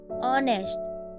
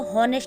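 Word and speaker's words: honest: H कहाँ silent होता है। अगर किसी स्पेलिंग में H किसी वोवल AEIOU के पहले आता है तो वह H का उच्चारण नहीं किया जाता। For example, ऑनेस्ट, over, honour. अब इसको हम, कुछ लोग ऐसे है कि इसको हॉनेस्ट पढ़ते हैं, तो उनको पता ही नहीं होता कि H यहाँ पर साइलेंट है, तो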